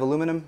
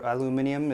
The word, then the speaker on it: aluminium: construction wise these are made of aluminum or aluminium if you want to pronounce it properly uh and the taller